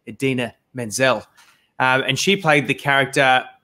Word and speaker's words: Idina Menzel: an award, and he completely got her name wrong and called her Adele Dazeem. But her name is not Adele Dazeem. It is the incredible, incomparable Idina Menzel.